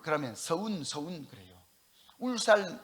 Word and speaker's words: 울산: 그러면 서운 서운 그래요 울산 울산 하면 운산 운산 그래요 리열 발음을 못해요 그리고 윤진 하면 윤